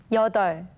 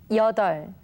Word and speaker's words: 여덟: Okay, let's begin with the case when we can only hear the 리을 sound. Please listen to 선생님. 여덟, 여덟, 여덟.